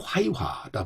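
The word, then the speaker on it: 槐花: 이 괴화의 중국식 발음이 화이화다 보니까 이것이 우리말로는 회화로 이렇게 전해진 것으로 불려지게 된 것으로 짐작되고 있습니다.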